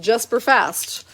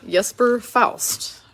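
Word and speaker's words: Jesper Fast: educated real quickly that his name is not pronounced just for fast but rather Jesper Faust very interesting all right we've got Curtis mcelhaney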